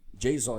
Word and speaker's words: JSON: formatados usando Jon né pronuncia-se Jon exatamente como eu tô fal falando aqui no com você é parecido com a sintaxe